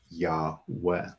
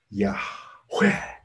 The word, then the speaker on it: Yahweh: And it is made up of two Hebrew syllables, Yahweh. And I read this rabbi saying that they are the two syllables in the Hebrew language that can be said without closing the mouth. And they are intended to replicate breath.